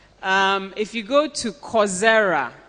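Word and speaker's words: Coursera: if you go to coera it's course like a course you study okay so c o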